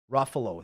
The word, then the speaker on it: Ruffalo: how do you say the Hulk actor's name Ruffalo Ruffalo this is rafos thanks producer Gary yep ruo